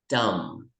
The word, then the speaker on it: dumb: Dumb. Dumb. Walang B, dumb.